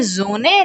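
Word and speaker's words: Sonne: हमेशा German language में S equal to ज प्रोनाउंस करते हैं, प्रोनाउंसिएशन है ये, ठीक है? हाँ लिखना मत, बोलोगे जोने लिखोगे सोने, समझे?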